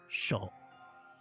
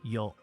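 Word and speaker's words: よう: And the on readings are gonna be just one, sho. Sho. Not sho, yo. Yo. It's yo.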